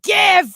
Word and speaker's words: GIF: the show and then you were like it's gif it's and i'm like no so you're jiff in your own personal life professionally now i